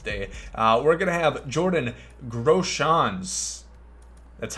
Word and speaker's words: Jordan Groshans: We're going to have Jordan Groshans. That's how you pronounce it.